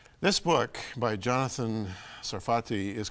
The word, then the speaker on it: Sarfati: And am I pronouncing your name properly? Is it Sarfati? Sarfati. Sarfati, Sarfati.